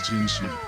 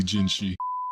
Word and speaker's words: Jinhsi: This is ginshi. That's spelled and pronounced as imashio. I That's Japanese. Is jinshi not Chinese? She Okay, I I did not need a translator for that. It's literally ginshi.